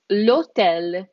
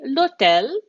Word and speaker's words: l'hotel: Now, the next one here, the H in Italian is silent. And we're going to see a couple of examples here of words that have a silent H. And it is l'hotel. So we just skip over that H and we say l'hotel.